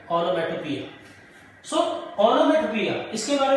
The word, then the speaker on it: onomatopoeia: It is not poeia, it is pia, onomatopoeia.